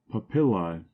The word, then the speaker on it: papillae: of the 17th century papillae a Latin word Accent on the second syllable meaning here the rough